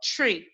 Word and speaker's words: Twi: way it's spelled and it's called tree tree okay tree like light like you're saying the word tree okay tree tree like with a whistle mm-hmm almost wow so